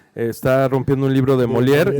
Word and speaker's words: Molière: Es que lo corrige porque está rompiendo un libro de Molière y él lo pronuncia de otra manera y ella le dice, no, pues es Molière.